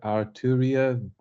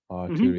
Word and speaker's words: Arturia: I don't even know how to pronounce it. Oh, it's called. Let me just quickly say Arturia. I use this a lot. It's called Arturia V Collection. I've used this quite a lot. Arturia.